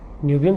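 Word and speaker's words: niobium: नियोबियम से लेकर के इसका आप जो प्रोनाउंसिएशन है कई लोग इसको नायोबियम पढ़ते हैं। कई लोग नियोबियम पढ़ते हैं। तो प्रोनाउंसिएशन आपके ऊपर डिपेंड करता है। आप दोनों में से कोई एक कह सकते हो।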